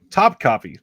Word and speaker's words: Top Copy: adventure uh t copy Top Copy that's easy top top copy it's the emphasis is on the second on the C got it yeah your